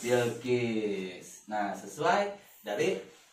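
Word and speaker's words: بلقيس: Nah, ba lam sukun wa kasroh bil. Kof sin sukun wa kasroh Kis. kis. Bil Kis. bilqis.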